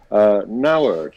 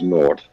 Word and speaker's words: Nauert: Nauert is apparently the correct pronunciation. I thought it was Naught, as in nothing, a big fat zero.